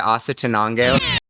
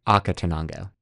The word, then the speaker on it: Acatenango: We just finished our hike to Asa Tanango. I believe it's pronounced Aka Tanango.